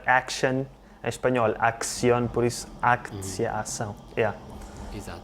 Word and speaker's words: акция: It's like in English ac-tion, action, in Spanish acción, so aktsiya, ação, yeah.